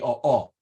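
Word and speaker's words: ʻōʻō: total extinction of the o'o. I'm sorry, I should pronounce it better than that. The o'o, which is meant to evoke its call, as I'll get to in a minute, and the mamo.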